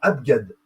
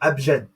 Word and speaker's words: abjad: vous voyez la différence c'est que c'est abgad g même si la lettre G se prononce j comme abjad bah eux pour les Hébreux et les Grecs pour le coup c'est g vous prononce cette lettre